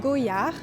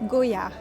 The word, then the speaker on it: Goyard: So it's pronounced Goyard. So as often in French, we don't pronounce the last letter, so we don't pronounce the T at the end. This is Goyard.